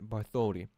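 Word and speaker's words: Bartholdi: But the master But the master sculptor, August Bartholi, Yeah, that's how you say it. But the master sculptor, August Bartholi, took no shortcuts, even though he believed it would never catch anyone's eye.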